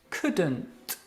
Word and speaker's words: couldn't: couldn't okay and couldn't couldn't okay don't pronounce the l it's couldn't let's hear you couldn't